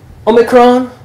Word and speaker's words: omicron: You just pronounce it like an O in English.